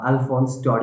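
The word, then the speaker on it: Alphonse Daudet: The French नाम है इसका, तो इस नेम की प्रोनाउंसिएशन अल्फोंस डॉडे है।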